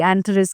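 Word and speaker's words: Antares: यह जो पोर्टल है ऐसा समय इसको रॉयल स्टार कहते हैं अंटारस को। वेल प्रोनाउंसिएशन सबकी अलग-अलग होती है। कोई एंथरिस कहता है, कोई अंटारिस कहता है।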